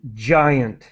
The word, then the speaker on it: giant: results and then just the word giant with the J sound giant meaning very big ok